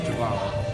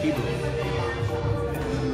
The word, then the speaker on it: Jíbaro: But this is the Jíbaro tribe, the Jíbaro, not pronounced Jíbaro, pronounced Jíbaro. You've never heard of them?